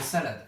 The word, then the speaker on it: salade: de la cilam orale quand on dit salade on dit salades ont dit deux syllabes donc c'est votre enfant